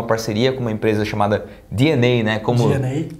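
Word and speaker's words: DeNA: O que eles vão fazer agora nesse anúncio dessa semana, que foi uma parceria com uma empresa chamada DNA, né? Como DNA, né? Que se pronuncia.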